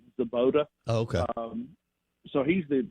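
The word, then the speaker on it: Svoboda: Well, but, I mean, you would think that – well, Drew Zabota, I think the B is silent, Zabota.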